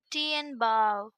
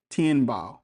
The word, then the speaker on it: Tianbao: Pronunciation today. Tien Bao. Tianbao.